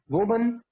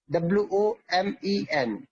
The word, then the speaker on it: women: वुमन, WOMAN, वुमन, WOMAN, वुमन। और इसको जब प्लूरल बनाएंगे तो वो हो जाएगा वीमन, वीमन, WOMEN, वीमन।